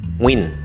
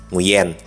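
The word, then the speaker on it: Nguyễn: pertanyaan berikutnya Kak kenapa kalau orang Vietnam itu namanya selalu Win atau kalau aksen Indonesia itu kita membacanya muyen nah saya hanya memuskan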